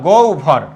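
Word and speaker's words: গহ্বর: তাহলে এখন আমরা যদি বলি লক্ষ কর এরকম যদি বলি গহবর তাহলে এটা কি হবে এই গ এর সাথে কি আছে অ গ এর সাথে কি আছে অ তাহলে হবের পূর্ব আছে তাহলে কি হবে গ এর সাথে আছে হটা কি হবে ও গ তারপরে কি ভর গভর ওকে আমরা যদি বলি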